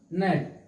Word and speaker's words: gnat: इनका शकल दिखाना है, पढ़ना नहीं है, पढ़ना है यहाँ से नेट, ठीक है ना। जी साइलेंट हो गया, चुप हो गया, शांत हो